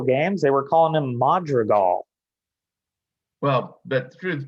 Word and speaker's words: Madrigal: the word was that his last name is pronounced madrigal accent on the last syllable not like the ancient english music magical but the metro gal kind of disappeared when